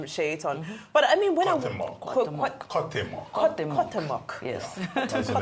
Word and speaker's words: Cuauhtémoc: I can't pronounce the name, but you did a good job of pronouncing the name, Shaitan. But I mean, when Cuauhtémoc. Yes. That's the name of the ship. Cuauhtémoc.